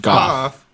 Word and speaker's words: Goff: Goff. You know how Jeff is spelled Goff?